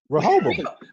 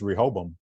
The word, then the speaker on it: Rehoboam: For me, I feel like it's just Rehoboam. Okay. I feel like it's got 3 syllables, 3 Rehoboam.